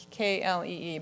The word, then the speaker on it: Klee: So k l e e but it's pronounced Klee.